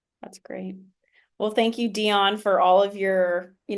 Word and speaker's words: Diane: Well, the reason why my name is pronounced Dion is because it's French and um I grew up speaking both French and English.